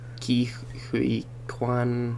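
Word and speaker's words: Ke Huy Quan: Ki Hui Kwan, that's how it's pronounced.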